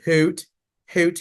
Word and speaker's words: Haute: Now, by the way, as a friendly reminder, we really pronounce it Haute here because we love all things fashion. So hot cocoa, we take the generic spelling of it, but hot cocoa critics, Haute.